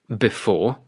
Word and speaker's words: before: For example, on before, it is the second syllable.